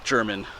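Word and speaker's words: Jermyn: just south of the town of German. It's not spelled like German, it's spelled J-E, it's spelled differently, German, anyway.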